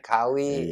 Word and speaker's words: Kawhi: ejaannya Kawi, gue bacanya Kawi.